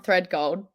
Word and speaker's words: Thredgold: yeah you do um how do you pronounce it for the people that have the problem of pronouncing your last name um thread gold thread gold there you go so